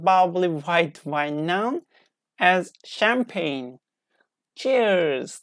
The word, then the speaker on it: champagne: quantities of expensive bubbly white wine known as champagne. Cheers, like this. So we don't pronounce G.